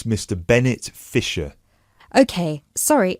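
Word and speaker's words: Fischer: me your full name sure it's Mr Bennett fiser okay sorry how do you spell your surname it's spelled f i s c h e r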